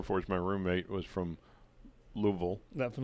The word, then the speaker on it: Louisville: From Louisville, not Louisville or Louisville, but Louisville. He taught me. I always thought it was. Well, I always grew up thinking it was Louisville, Kentucky. Yeah. But it's almost one syllable.